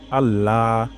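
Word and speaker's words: الله: প্রথম শব্দটি হলো আল্লাহ এখানে শক্ত করে উচ্চারণ করতে হবে এমন হবে না আল্লাহ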